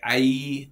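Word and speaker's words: Aÿ: some are slightly bigger like I which is the one that's spelled a y with L over the Y so I is like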